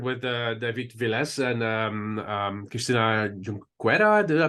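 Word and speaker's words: Junqueira: So you work with David Viles and Christina Junquera. Did I pronounce that correctly? Junquera.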